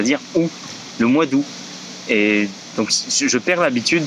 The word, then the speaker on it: août: Autre chose aussi, c'est que le mois d'août, tu ne prononces pas le T, tu dis c'est le mois d'août, c'est tout.